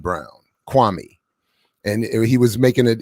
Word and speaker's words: Kwame: Kwame. And he was making it, and apparently Stephen A. Smith has been intentionally saying Kwame and not Kwame, which is how his mother wanted it to be pronounced.